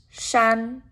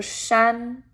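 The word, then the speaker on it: 山: for mountain in chinese and this word is pronounced shan shan so shan is the chinese word for mountain so if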